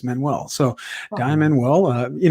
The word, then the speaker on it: Manuel: name for david and my last name is portuguese manuel so diamond well uh